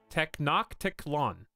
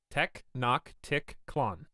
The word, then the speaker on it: Tenochtitlan: Pronunciation: Tenochtitlan. Tenochtitlan. You guys were all wrong. All of you. This is why he's not reading the book on stream. Tenochtitlan. So, like, right here, T-E is actually tech.